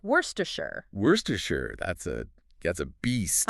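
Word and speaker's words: Worcestershire: Worstershure.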